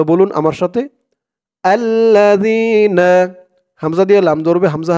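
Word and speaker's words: الَّذِينَ: পরে ইয়া সাকিন আর এখানে জালের উচ্চারণটা একদম নরম পাতলা হবে জিহ্বার মাথা উপরের দাঁতের মাথার সাথে লাগবে জালের উচ্চারণটা করার সময় আল্লাজিনা এক আলিফ টান জবরের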